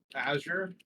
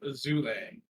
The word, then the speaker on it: Azure: People say my name differently all the time. I've been called Azule, Azura, Um, I don't know. There's like over 10 different names of saying Azure apparently.